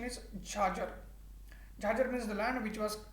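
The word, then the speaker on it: chachar: c h a c a r but the pronunciation is charger means the land which was cultivated every three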